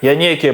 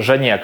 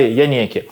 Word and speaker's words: Janeke: дивіться оцей янеки так Воно читається як янеки бо це якась італійська фірма і мене в тіктокі просто за хейтила за то що я кажу жанек але мені так зручніше але правильно казати янекі що таке Це янекі